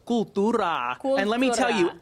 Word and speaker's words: Cooltura: The store is called Cooltura.